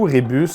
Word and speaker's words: rébus: Rébumix, c'est un petit jeu de rébu ou rébus pour les personnes qui les prononcent comme ça.